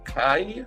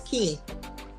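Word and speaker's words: Kye: Kai Walker, Esquire, attorney at law. Huh? It's Key. Key. Is that K-Y-E pronounced Key? Her name is Key.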